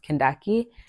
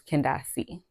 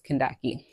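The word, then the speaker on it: Kandake: spelling um and so that's where the pronunciation that my mom gives me or gave me which is Kashi but keep in mind the actual pronunciation is Kaki now the history lesson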